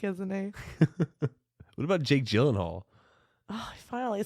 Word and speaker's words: Gyllenhaal: What about Jake Gyllenhaal?